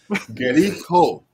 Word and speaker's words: Likho: How do you pronounce your band name? Likho.